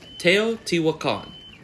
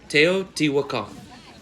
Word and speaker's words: Teotihuacan: Just to be clear, the pronunciation of the first place I'm visiting is Teotihuacan. That's Teotihuacan. Teotihuacan is home to the most famous large structures of ancient Mexico.